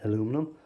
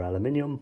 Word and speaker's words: aluminium: them pins out, and you have clean aluminum or aluminium, whichever way you want to pronounce it.